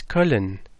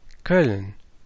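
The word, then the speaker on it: Köln: when I was in colon and they whenever I heard the town pronounced there was always this colon colon really oh hey actual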